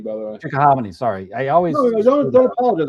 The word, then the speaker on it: Chickahominy: Where we are is pushing, east of Richmond, coming over the Chickahominy up here by I think it's pronounced Chickahominy, by the way. Chickahominy, sorry.